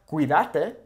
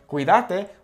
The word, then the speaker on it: cuídate: Now, once again, notice how the accent is here. Why? Because normally the natural emphasis would fall here because it's the second to last vowel. So it's not cuídate, okay, which in Argentina that actually might sound correct. Cuídate, it's a cuídate, okay? The emphasis changes.